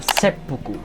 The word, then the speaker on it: seppuku: bukan juga dibaca Kirihara tapi ini bacanya sa buku yang artinya potong perut Nah bisa dibilang kanjinya